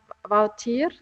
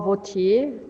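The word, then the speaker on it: Wautier: She's Baptist actually as Maria Magdalena Woutier, or Woutier, depending if you pronounce it in the French or the Dutch way.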